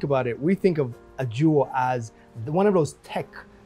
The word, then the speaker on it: Ajua: How do you pronounce it? Ajua, correct.